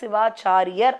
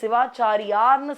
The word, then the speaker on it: சிவாச்சாரியர்: காவியத்தை தான் மகாஸ்காந்தம் என்பதை கந்தபுராணமாக கச்சியப்ப சிவாச்சாரியர் அப்படின்னு சொல்லணும் நிறைய பேர் சிவாச்சாரியார்னு சொல்றாங்க அதற்கான சரியான ஒரு